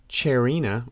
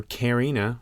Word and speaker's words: Charina: The genus is Charina, or Carina, however you want to pronounce a CH in Latin preceding an A.